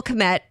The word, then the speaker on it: Kmet: Yeah, so Chicago Bears player Cole Kmet, is that how you say his name?